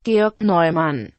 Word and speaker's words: Georg Neumann: 독일어 발음으로는 Georg Neumann. Georg Neumann. 일 텐데 제가 독일어는 대충 배워놔서 제가 발음을 하지는 못하겠어요. 그냥 저나 여러분의 편의상 게오르그 노이만이라고 한국식으로 발음을 할게요.